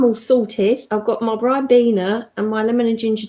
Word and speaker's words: Ribena: My pronunciation of it is Ribena.